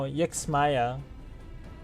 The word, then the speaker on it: Ixmaya: But if it affords us an opportunity to investigate Ixmaya, fine. Oh, Yixmaya. See, I would have not pronounced a Y in there. It just would not have had been something that I would have done.